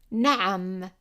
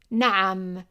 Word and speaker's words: na'am: And you see here that we have number 3, and remember that we used number 3 to represent the ayn, which is like a vowel, like pronouncing an English vowel while tightening the throat.